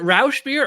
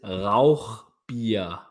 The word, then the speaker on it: Rauchbier: I'm sure I'm do you want me to pronounce it I speak German is it Rous beer or Rock Beer it is RA beer beer that's how you say it yeah I